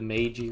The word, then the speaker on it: Meiji: Shogunate's still in power, which not sure when the was it the Meiji Restoration? That's how you pronounce it.